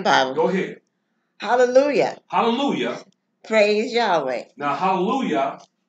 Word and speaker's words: Hallelujah: Now you'll hear them say hallelujah. Yes. And they'll put a J-A-H at the end. That J is deception. Mm-hmm. When that's supposed to be pronounced hallelujah.